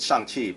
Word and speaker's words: Shang-Chi: So why is it Shang-Chi, but people are pronouncing it Shang-Chi?